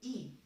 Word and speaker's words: y: It's actually y, like in and in alphabet form y is y, and when we are using it as a pronoun, the pronunciation is e. Okay, so it's not like e, the English alphabet.